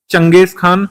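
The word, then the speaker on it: Genghis Khan: था, थर्ड पर फिर चंगेज खान, जिसको गेंगिस खान लिखा जाता है, इसी तरीके से, गलत स्पेलिंग नहीं, इसी तरीके से लिखते हैं, चंगेज खान रीड करते हैं, फिर आखिर में तैमूर आया था।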